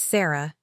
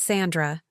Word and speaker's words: Sarah: It's Sarah, not Sandra, not Susan, not Jake's wife.